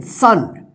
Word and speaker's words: son: तो SON, सन, COME, कम, इसको को मत पढ़िएगा, ठीक है ना, कम, COM, कम, कम का मतलब आना, ठीक है।